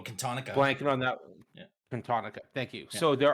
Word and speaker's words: Cantonica: Cantonia. Yeah, I can't pronounce the last one. I have to look at the spelling, but yeah, Cantonica. Cantonica. Blanking on that. Yeah. Cantonica.